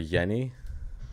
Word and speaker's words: Jenny: It's funny because Jenny is Steuart Wenstein is Swedish, but if you don't pronounce her first name the way you do in America. So So you would call her Yenni.